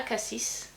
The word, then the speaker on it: Cassis: Donc ça, c'est des produits qui sont fabriqués à Cassis. Ou Acacie, je sais pas, il y en a qui prononcent le S, d'autres qui prononcent pas.